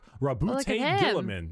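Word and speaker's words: Roboute Guilliman: Rabbout Gillaman.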